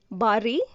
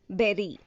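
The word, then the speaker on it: bury: We were pronouncing it as bari, but it is incorrect. The correct pronunciation is berry. Berry means to put in the ground and cover with earth. So it has to sound like strawberry, blueberry, berry.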